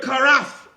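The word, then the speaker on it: כרת: This is the Hebrew Abaite word karaf. Karaf, if you're taking notes, it is spelled K-A-R-A-T-H. In the English tongue, transliterated into the word karaf.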